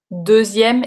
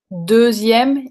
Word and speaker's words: deuxième: Donc, deuxième et douzième, tu entends la différence. Est-ce que vous avez tous ce problème pour la prononciation de ce que Lily and Joe's a demandé tout à l'heure, and Joe's dad? Deuxième et douzième. Est-ce que vous entendez la différence? Parce que c'est deux mots différents.